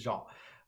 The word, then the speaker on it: Jean: Jean, like denim, or Jean, like the French pronunciation. So it is French. So it is Jean. I usually reference Star Trek, right? Jean-Luc Picard, or Jean Valjean from Les Mis recently.